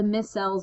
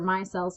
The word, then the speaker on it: micelles: in the reading when we talk about the micelles or micelles, depending on how you pronounce it, of soap and how they interact.